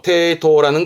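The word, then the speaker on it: 抵当: 발음은 테이토라는 건 은행에 어떠한 담보, 저당 잡힌다는 말을 하잖아요.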